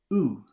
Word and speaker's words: ou: Those two vowels are O and U together, O-U. Oo, the pronunciation is oo.